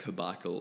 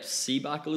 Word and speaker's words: CBAKL: I seen it yeah I get that question all the time not how to pronounce it like open up to see Michael but like cabaco like loads of different connotations because I but then we had yeah see buckle is way I say even like my name